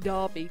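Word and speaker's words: Derby: mentis sound like like Darby it's spelt with an E why is it spelt with an E when it's pronounced Darby which either than a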